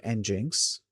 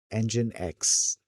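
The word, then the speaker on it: nginx: or uh or Ninx engine X. I'm sticking with Ninx. It's uh it's the first pronunciation that I'd come up with for this uh thing until I found out that it's called engine X and then I was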